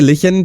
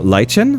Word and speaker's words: lichen: Is it like I want to say liken because it's it's it has a ch and in German it's a sound. It's obviously not. So lychen lichen.